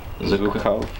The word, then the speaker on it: Zhukov: Zhukov.